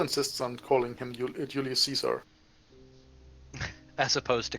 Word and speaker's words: Caesar: That is actually perfectly true because everyone still insists on calling him Julius Caesar. As opposed to Kaiser.